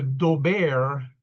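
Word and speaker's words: Daubert: the dober, that's how it's pronounced standard uh is reviewed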